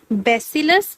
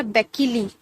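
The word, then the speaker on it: bacilli: Singular form में बेसिलस और plural form में आप क्या कहोगे? बेसिली या बेकिली, कुछ भी प्रोनाउंसिएशन कर सकते हो लेकिन आपको ये याद होना चाहिए, ठीक है।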